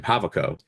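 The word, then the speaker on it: Javicco: H first of all we finally figured out how to pronounce this man's name havaco yeah ja jav Co that's that was a soft Jade the entire time soft J so H so havaco you know Vala pulls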